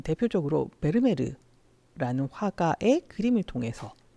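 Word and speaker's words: Vermeer: 잘 볼 수 있습니다 베르메르는 그 부르는 방식이 굉장히 다양한 거 같아요 베르메르 부르는게 가장 일반적이고 영어권에서는 베르미어고 부르기도 하고요 실제로 네덜란드 식으로 읽으면 페르메트린 일반적으로는 베르메르 요렇게라고 읽는다라고 말씀드리고요이 베르메르의 그림은 주로 여성을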